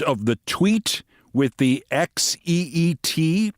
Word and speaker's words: Xeet: the tweet with the XEET, presumably pronounced sheet, as in, I sent that out on social media, I just took a sheet.